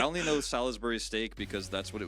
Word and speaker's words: Salisbury: It's pronounced Salisbury. Salisbury.